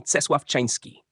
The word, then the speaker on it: Czesław Czyński: Une telle personnalité est certainement Czesław Czyński, prononcé Czesław-Czyński, un magicien polonais mentionné dans le livre